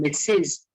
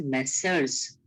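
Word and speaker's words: Messrs: to share capital and mixes it is it is pronounced as messers okay Mrs go on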